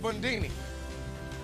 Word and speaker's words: Bundini: been on backwards I'm called bundini rhymes with movie it was a Jew